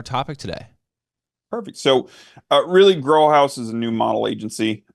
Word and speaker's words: GroHaus: And GroHaus, did I say it right?